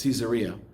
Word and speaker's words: Caesarea: along the coast is the town called Caesarea some people pronounce it Caesarea and there she writes